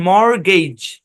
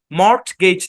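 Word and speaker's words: mortgage: দেখেন হ্যাঁ খেয়াল করেন এম ও আর টি জি এ জি ই শব্দের মধ্যে টি সাইলেন্ট এ শব্দের উচ্চারণ মর্গেজ মর্গেজ যারা ব্যাংক রিলেটেড লেনদেনের সাথে আছেন তারা এই শব্দটার সাথে পরিচিত থাকতে পারেন মর্গেজ মর্টগেজ না টি সাইলেন্ট মর্গেজ এই শব্দের অর্থ হচ্ছে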